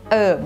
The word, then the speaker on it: herb: ก เ สี ย ง ว่ า herb herb ก็ คื อ เ ป็ น ตั ว